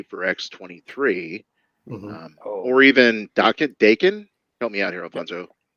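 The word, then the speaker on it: Daken: x23 or even docket Dakin help me out here rapunzo yeah it's not Doc and that's the metal band digging okay yeah rhymes with bacon even a name sucks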